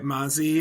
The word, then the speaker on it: Mazi: You said it's Mazi or Mazi. I want to make sure I'm pronouncing it correctly. Yeah, that's right. Mazi. It's yeah, it's a Greek word.